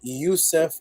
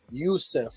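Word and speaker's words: Yosef: now the way to pronounce Joseph in Hebrew because there's no letter J would be Yousef or Rusev Youssef or Rusev so Yousef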